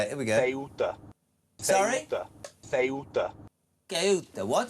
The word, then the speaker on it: Ceuta: Please stop pronouncing Quetta.